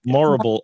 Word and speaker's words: Morrible: Horrible rhymes with horrible. That's the way to remember. Morrible.